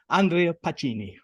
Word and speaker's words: Andrea Pacini: he's not always but he's Italian please don't Andrea Pacini did I do it's Justice you did Roy thank you very much you pronounced it perfectly I'm looking forward to this